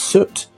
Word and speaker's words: soot: i accept that but boot with an s at the front isn't suit no it's soot which is the same sound as book oh yeah what's more